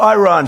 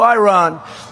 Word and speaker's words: Iran: And the man said, no, we are going back to Iran. See, now I say Iran. I don't use because he obviously has a correct pronunciation. We will go back to Iran.